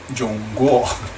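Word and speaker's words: 中国: which is how the Chinese name their country, Zhongguo, pronounced Zhongguo, which means literally middle country, with the implication that all its many neighbouring countries were barbarians, which they were.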